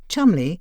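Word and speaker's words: Cholmondeley: who are not British this name though pronounced Chumley is spelled c-h-o-l-m-o-n-d-e-l-e-y Merlin Hale the 24th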